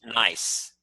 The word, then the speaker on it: gneiss: Gneiss? Yeah, it's spelled Gneiss, but it's actually pronounced nice.